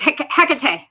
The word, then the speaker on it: Hecate: It's Hecate. Heck, it is Hecate. Of course it is. Shame on me. That's okay. Yeah, but no, they were surprised, or I guess excited to see Hecate in there.